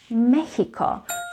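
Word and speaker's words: México: first one is mexico remember it is written just like in english mexico but in spanish the correct way of saying it is mexico so the x is pronounced as joseon mexico not mexico mexico the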